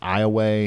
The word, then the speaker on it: Iowa: a town in Louisiana called Iowa and it's pronounced Iowa yeah yeah there's all kinds of crazy stuff